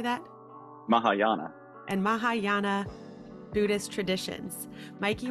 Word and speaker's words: Mahayana: terraa and Maha how do you say that Mahayana and Mahayana Buddhist Traditions Mikey was given the